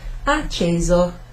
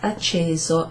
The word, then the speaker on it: acceso: Sì, spento, and then down here we have acceso. So this has got a single S in it, acceso, acceso. And you might have noticed that's kind of like a sort of a z kind of sound, so acceso instead of acceso.